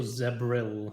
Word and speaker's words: Zebril: I could not remember any of the months other than Zevril, and I didn't write this down before. It's also Zebril, not Zevril. Well, it changes with region. It's a regional pronunciation.